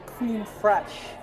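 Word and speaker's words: crème fraîche: Our smoked salmon cream fraiche, blini caviar. It's like a cream fresh is how it's pronounced.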